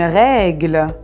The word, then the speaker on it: règle: Une règle. Une règle. Alors, comme vous voyez les enfants, ici on a un accent grave. Alors, on doit ouvrir la bouche pour prononcer le son « est ».